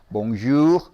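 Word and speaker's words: bonjour: 발음을 좀 길게 약간 길게 바르면서 봉주르가 아니라 몽쥬 몽쥬 이렇게 발음하면은 이게 아침이나 낮에 하는 인사가 돼요 그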